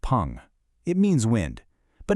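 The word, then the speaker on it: 풍: This character is fu, pronounced pong.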